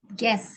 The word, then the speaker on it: guess: Guess ya bacanya, bukan guess. Jadi U-nya nggak usah dibaca guess.